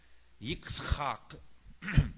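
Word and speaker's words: יצחק: Yitzchak, excuse me. Hebrew is very guttural, even much more than Arabic.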